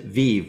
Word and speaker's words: Viv: so don't don't feel bad but we actually pronounce it Viv which is the comes from the Latin word